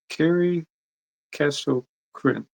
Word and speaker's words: Karey Casto-Chrin: Today we have Carrie Castro Krin. Right. Good job. Yes, that's how you pronounce it.